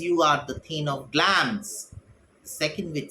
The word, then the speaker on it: Glamis: Thee Thane of clams this is not Glamis the pronunciation is glance pain of glams all hell Macbeth held